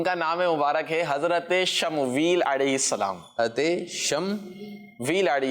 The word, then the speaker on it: شمویل: جی شم ویل. ماشاء اللہ، صحیح تلفظ، صحیح ادائیگی. کیا ہے؟ شم ویل. شین اور میم اور واو یا اور لام.